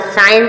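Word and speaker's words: science: सी आया इसी प्रकार साइंस साइंस मींस होता है विज्ञान एस के बाद जो सी आया साइंस साइंस में विज्ञान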